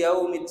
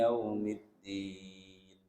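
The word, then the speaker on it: يوم الدين: Maliki yaumid, salah. Maliki yaumiddin.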